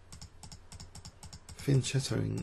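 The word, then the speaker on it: fianchetto: the clined porn sack finching after fin Ching is the recommended pronunciation pronunciation rather in the Oxford English Dictionary just to give you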